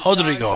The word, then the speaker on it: Rodrigo: you loved calling out first let me correct it because it's brazilian it's actually rodrigo rodrigo pronounce it hr it's like hoist gracie so antonio rodrigo nogueira